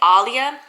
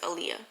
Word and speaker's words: Alia: I've been saying Alia. It's spelled A-L-I-A, but for some reason I do not think her name is Aaliyah.